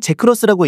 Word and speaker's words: GX: GX는 제크로스라고 읽는다.